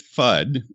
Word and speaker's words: FUD: Well, we pronounce it Fudd in the film version.